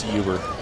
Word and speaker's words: Huber: He mispronounced Clayton's name. He's over there, Clayton Huber with the game-sealing pick. Dude, it's Huber.